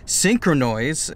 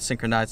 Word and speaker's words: Synchronoise: For the special move, Synchronoise, unlike the other vlog where I just mispronounced it completely, I called it Synchronize. Synchronoise, which Gallade and Gardevoir can both learn.